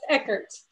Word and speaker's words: Eckert: you see i've been kind of careful not mispronouncing your surname yeah it's echoes okay echoes okay that's exactly what i thought